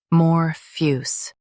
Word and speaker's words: amorphous: AMORPHOUS. AMORPHOUS. Stress more and keep fuss soft. The A is light.